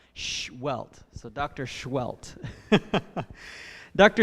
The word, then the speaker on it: Sehuelt: pronounce his name is you put your finger in front of your lips like shh, and then like you hit yourself and get a welt. Sehuelt. So Dr. Sehuelt. Dr. Sehuelt is currently an associate